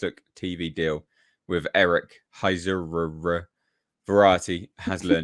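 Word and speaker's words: Heisserer: TV deal with Eric Heiserer. Don't know how to say it. How would you say this name? Heiser. No, there's two ERs, mate. Heiserer.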